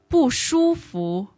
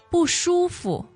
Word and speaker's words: 不舒服: Yes, and with the pronunciation, I want to highlight that a lot of people actually pronounce 福 as the second tone, as Yes. you normally would. Yes. So 不舒服. Okay. However, you might have noticed that I said 不舒服 Yes, in neutral tone. neutral tone. Yeah, that's the dictionary standard Okay. pronunciation. But whichever way you want to pronounce it, it's fine.